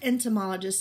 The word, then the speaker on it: entomologist: write it better so clap it with me and then we'll write it syllable by syllable in toe ma lo jest all right and and